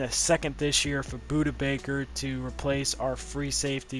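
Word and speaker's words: Budda Baker: A first next year and a second this year for Buda Baker to replace our free safety because we have already a replacement for him.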